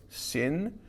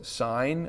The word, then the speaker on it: sine: We wouldn't call this sin. We would call this sine.